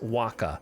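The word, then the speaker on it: Wacha: 180 Innings pitched it's wa of course it's pronounced Waka just pick whatever the second thing that makes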